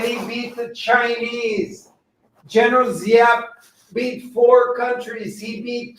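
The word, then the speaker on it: Giap: Hey, folks, it's General Zap. It's spelled G I A P.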